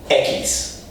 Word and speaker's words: equis: Well, that beer is Dos Equis, 2 X's, Equis.